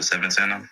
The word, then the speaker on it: Svntana: Or, I like to pronounce it Svntana, because the 7 is a 7.